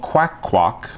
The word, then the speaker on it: QacQoc: This is from a company called QacQoc. That's how they told me they pronounce it.